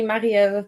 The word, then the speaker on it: Marie-Ève: T boom my name is Mel it's actually marel but no one can pronounce that so now I go by